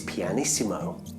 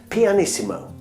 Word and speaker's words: pianissimo: come on a bit closer why this is pianissimo this is how her name's spelt do you think you can say her name after me pianissimo very good now if we're gonna write